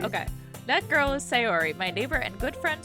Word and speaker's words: Sayori: How do I pronounce her name? Is it Sayori? Sayori! Okay. That girl is Sayori, my neighbor and good friend since we were children.